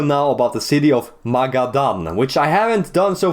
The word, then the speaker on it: Magadan: because in another video, I call this place Magdan, not Magadan. It says Ma Gadan. I think that's how it's pronounced.